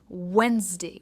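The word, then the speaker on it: Wednesday: next is वेडनेसडे एंड नॉट वेडनेसडे डी इसमें silent है इट्स वेडनेसडे vends और डे यानी हफ्ते का एक दिन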